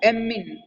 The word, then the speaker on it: ammine: अगर बात करें जैसे हिंदी में लिख के बताता हूँ, एमीन, ठीक है, एम डबल आर यूज होता है ना, हिंदी में इसलिए लिखा ताकि आप इसको प्रोनाउंसिएशन सही कर सको, AMMINE।